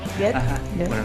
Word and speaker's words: Goethe: Y hay un escritor que se llama Goethe, no me lo dejo pronunciar mal, Nico, en alemán, Goethe.